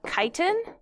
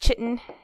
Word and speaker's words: chitin: It is made of chitin. And just for reference, that is not pronounced chitin. It's pronounced like chitin, okay?